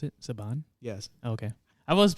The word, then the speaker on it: Saban: Mighty Morphin Power Rangers is that how you pronounce it Saban yes okay I was said Sabin is either first name is either hyam or